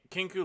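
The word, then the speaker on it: Kinkou: Kinku Lifeblade is how I'm hearing most people pronounce it.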